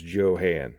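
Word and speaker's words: Jo-Han: let you know that that's the incorrect pronunciation it's actually a contraction of the guy who started the company John Hanley so that's contraction of his name so it is Johann so but uh that's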